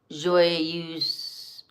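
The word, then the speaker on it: Joyeuses: Joyeuse. Joyeuse. Oh, I do pronounce that S.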